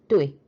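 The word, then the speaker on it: 对: 발음은 사성의 뚜이.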